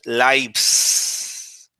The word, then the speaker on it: lives: Mm, So since it's the plural of life, this would be say the pronunciation lives.